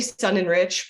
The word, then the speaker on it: Sonenreich: a Leva and um my last name I say sun and Rich but sun and Rich other family members would